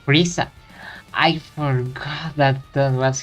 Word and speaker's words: Frieza: Here in the US, his name is pronounced Frieza. I forgot that that was his name. No, I'm going to use Friezer because that's how we call him here.